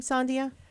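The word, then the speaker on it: Sandija: again french b-a-y-o-t diego and it rhymes from latvia and i actually say this sandia from latvia it's a little song next time you'll hear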